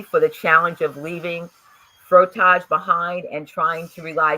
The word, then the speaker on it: frottage: Now, I want to make sure I get the pronunciation of this word correct. Frottage, correct? Frottage. Frottage, okay.